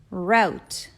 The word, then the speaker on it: route: Route, route.